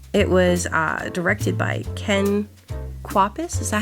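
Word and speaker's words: Ken Kwapis: It was uh directed by Ken Quapus.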